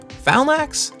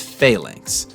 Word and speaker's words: phalanx: common in the set unhollowed flanax phalax phalanx i gotta look this one up i can never say it right all right i just looked it up and the jury isn't it's phalanx and you're going to